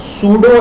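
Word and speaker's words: pseudo: इसको हम कहते हैं सूडो एलिमेंट, ठीक है। ये इसकी स्पेलिंग है, लेकिन इसको पी इसमें साइलेंट है, ठीक है, और शायद ई भी साइलेंट है, इसको हम कहते हैं सूडो एलिमेंट।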